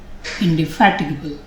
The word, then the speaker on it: indefatigable: Well, both these words need to be pronounced very carefully. Fatigue, indefatigable.